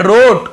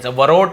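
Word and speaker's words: wrote: रोट तो डब्लू आर तो W silent होता है वैसे राइट रोट रिटर्न रिंग सब में डब्लू सेलेंट होता है लेकिन पढ़ते नहीं है हम उसे लिखते हैं लेकिन पढ़ते नहीं वरोट नहीं पढ़ेंगे रोट लिखा हर नेम उसका नाम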